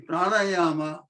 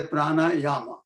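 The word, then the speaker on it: प्राणायाम: The pranayama, number one, let me reiterate, it is not pranayam, it is a pranayama, the correct pronunciation in Sanskrit. If you are pronouncing in Hindi, then pranayam is fine. But in Sanskrit, it is pranayama.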